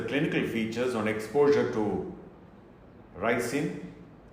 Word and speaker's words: ricin: to be precise is racing actually the correct pronunciation is rising though it is commonly mispronounced resin I am not very sure as to why